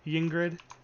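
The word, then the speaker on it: Ygritte: It's more like an accent thing, like Yingrid with a Y, but he calls her Ingrid in the show.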